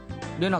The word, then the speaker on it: Rena: それで Reina じゃなくて Lena って読むのか?